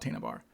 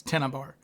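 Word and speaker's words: Tena Bar: I think she did say it correctly. It's tennibar.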